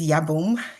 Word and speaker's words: Yabome: in this space today my name is Yom uh like home for those of you who are wondering how to say it I uh come to